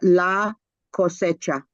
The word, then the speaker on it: La Cosecha: Lopez, may you please help us pronounce the conference that we're going to in Albuquerque next month? Certainly, it's La Cosecha.